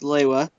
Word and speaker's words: Lewa: Toa Liwa, also officially pronounced Lewa, is the wild and carefree, much like his element, Toa of air.